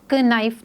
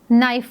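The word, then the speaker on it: knife: इसको प्रोनाउंस नहीं करेंगे और नाइफ को हम प्रोनाउंस करते वक्त कानिफ नहीं पढ़ेंगे हम इसको नाइफ पढ़ेंगे सो के इस साइलेंट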